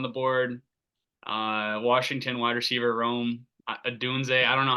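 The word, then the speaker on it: Rome Odunze: Washington wide receiver Rome Adunze. I don't know how to pronounce his name. I don't You know. got it right. It's Romo Dunze, yeah. Adunze? Okay, that's what I thought.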